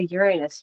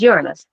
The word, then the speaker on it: Uranus: someone mentions that planet, they always say Uranus because that's how it's just funny to us as kids. But it's Uranus. I think it comes with age, being able to say it properly.